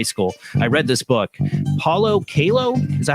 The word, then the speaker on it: Paulo Coelho: Paulo Coelho, is that how you say his name? Yeah, Paulo Coelho.